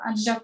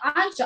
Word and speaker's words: адже: Адже кожен, пам'ятаєте наголос, не адже, а адже, через вами наголос.